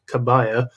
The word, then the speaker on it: Kabir: And that's from my guy um whose name apparently there are so many different ways of pronouncing it. I call it Kabir. Apparently that one of them is Kabaya.